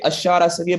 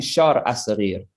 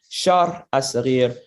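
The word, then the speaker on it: Sharh as-Saghir: And I always say Ashara Sarir, but it's actually Shar Asarir. I kind of mispronounce it, but it's Shar Asarir, which literally means the diminutive explanation, right?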